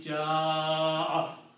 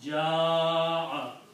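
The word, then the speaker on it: جاء: The reason is that this hamza causes that alif to be pronounced long. Okay? So this hamza will cause this alif to pronounce long, and the pronunciation will be ja'a 4 to 6 times.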